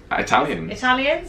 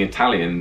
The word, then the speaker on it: Italian: But when, instead of saying Italian, they'll say Italian.